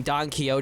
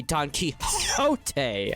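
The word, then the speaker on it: Don Quixote: When people tell me that I'm mispronouncing Donote, it's supposed to be Don Kiote.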